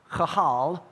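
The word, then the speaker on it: קהל: Of course, that word in Hebrew, Strong's number 6950, it's pronounced chahal, and it means to assemble, to summons. Now, the interesting thing here is that this word kahal means to take myriads of people, individuals, and assemble them together as one.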